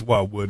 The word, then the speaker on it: Watwood: it watwood or watwood how would you it's watwood it's never pronounced correctly so I'm used to it by